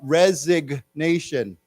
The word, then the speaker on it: resignation: then this word rezig remember that we pronounce the g now uh resignation resignation yeah so yeah so they've